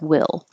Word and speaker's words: we'll: to be that careful and it sounds like will will be there will be there so you